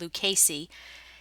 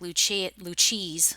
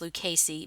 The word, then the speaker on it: Lucchese: Nadia, who sold these Lucchese. That is, I believe, how you pronounce it. Someone in Texas told me that it's pronounced Lucchese. It looks like Lucchese, but it's Lucchese.